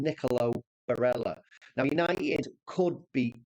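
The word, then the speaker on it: Nicolò: you pronounce his name the first name Nicolo sorry not nickel and Nicolo Barella now United could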